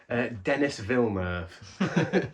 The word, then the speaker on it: Denis Villeneuve: Is that how you pronounce his name? I think it's Vinyl Denis. Denis Villeneuve.